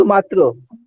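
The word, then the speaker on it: মাত্র: मात्रो बोलते हैं। अरे मात्रो लिखते मात्र हैं, जी बांग्ला सर। में ओ की उच्चारण हो करते हैं, क्योंकि यहाँ के लोग बड़े मीठे होते हैं, रसगुल्ला के जैसे जी गोल जी गोल, जी। इसलिए हर चीज में ओकार उच्चारण करते हैं।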